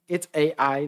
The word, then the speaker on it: Ai: It's Ai. That's Hebrew language. You pronounce every syllable, and you have two here.